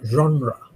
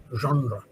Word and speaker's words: genre: French word meaning kinder group pronounce a genre. Genre French pronunciation genre category can be musical genres the litary genres there film genres there artistic genres.